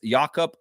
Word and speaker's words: Jakob: your fault bro it's yakob p p and it's like a o with a little dot thing on there with e well some that's how you pronounce that in Austrian so yeah go ask